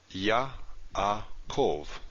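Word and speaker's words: יעקב: So effectively we have a syllable division here, and then we have another one here, because we need a closed syllable here. Yaakov means Jacob.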